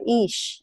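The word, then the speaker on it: Ix: days comes around the day of Ish, and that's spelled I-X.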